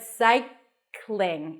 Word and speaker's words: cycling: a vowel in between so it's not cycling but cycling it's not a big deal if you put awah there but try to connect the two sounds together Cy cling like the word cling to cling on something the end has an NG cycling so you don't have to pop the g at the end it's just in in cycling cycling the next